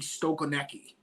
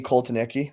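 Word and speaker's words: Kotelnicki: I am putting 100% blame on, and I always say his name wrong, Andy Stokonecki. Andy Koltanicki.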